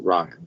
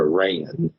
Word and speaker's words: Rian: But Rian Johnson, which is just funny, like, I think if you're actually Irish, I don't think you pronounce it Ryan. It's more of a Rayan. Huh. But I might be wrong.